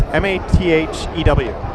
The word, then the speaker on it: Mathew: It's Mathew. You have to imagine how many times people just spell it Matthews with 2 T's. There's no S and there's 1 T.